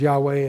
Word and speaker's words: Yahweh: So many rabbis will just pronounce the letters. Yod-Heh-Vav-Heh is the name. Others will pronounce it as Yahweh, and others refuse to pronounce it.